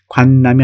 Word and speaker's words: 관람: 그리고 공연을 관람하다. 관람이 아니고 관람, 발음. 관람, 이렇게 읽어야 되겠죠?